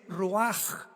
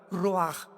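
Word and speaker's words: רוח: La palabra para espíritu en el hebreo es la palabra que es roaj, que se escribe roach con ch. Pero repito, ese pronuncio pronuncia como J. Roaj.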